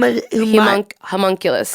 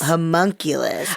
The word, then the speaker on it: homunculus: Humong Hunculus. Homunculus.